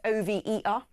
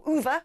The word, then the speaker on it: Over: If you're from Gloucester, there's a place O-V-E-R that Gloucestonians would call Uver, but if you're outside, you would say over.